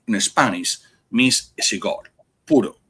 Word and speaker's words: puro: Now pur spe like a Cuban cigars they they're not pur neither pur which is called pronounced puro in Spanish means a cigar puro p u r o that's how it's pronounced